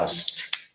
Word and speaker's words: asked: इसको अगर ऐसे जैसा लिखा है वैसा बोलेंगे तो दिक्कत होगी, जीभ अटकती। तो उसका तरीका इंग्लिश मीडियम वाले क्या करते हैं? के को खा जाते हैं, उड़ा देते, साइलेंट कर देते, तो बोलने में आसान होता है।